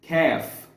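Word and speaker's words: كاف: K all of that it's called calf see there's a in there even though it's not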